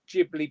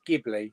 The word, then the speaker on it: Ghibli: Here, see, Jamie, I've always said Ghibli pronounced as Ghibli.